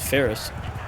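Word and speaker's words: Faris: So, these these actual horse troops here are called uh F A R I S, which I pronounce as Ferris, but it's just too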